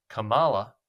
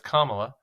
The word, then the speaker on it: Kamala: Suggests that if he was going to put the emphasis on the last syllable of Kamala when it's Kamala, then maybe she should do the same and refer to him as Don Old.